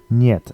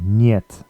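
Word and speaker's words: нет: it means yes just means yes word two niet it looks a bit like hit but it's um yet the E is pronounced as a y e so yeah instead of E so niet means no means next word we have this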